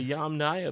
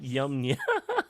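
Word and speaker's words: Yamnaya: Oh, the Yam Naya people. Uh, is it made up? No. Look it up. Yum. I Okay, so the the Yam Naya people, not Yamya, is that them?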